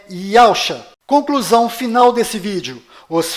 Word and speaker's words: Yahshua: O verdadeiro nome do Messias está do lado direito da sua tela e a pronúncia dele é Yahshua.